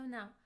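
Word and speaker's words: の: Particle no is a possessive particle. It's pronounced as no, no, and it shows that something belongs to someone.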